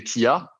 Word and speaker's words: TI: Non, parce que donc du coup, j'ai voulu le faire à l'américaine, sauf que ça ne se prononce pas Tia, mais T.I., tu vois ce que je veux dire.